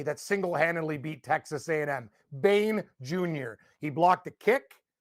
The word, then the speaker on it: Bain: Bain.